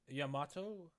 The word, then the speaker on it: Yamato: That sure is an interesting way of pronouncing Yamato. Yamato?